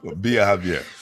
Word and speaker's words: Biajavier: I just felt like it was just one long word. Yeah, Biajavier.